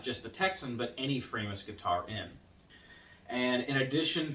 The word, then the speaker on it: Framus: start in on me, I know it's actually pronounced Framus, but I am an American and it's just more natural for me to say Framus.